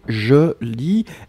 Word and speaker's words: lis: Donc, c'est je lis, LIS. Donc, le S final n'est pas prononcé, hein.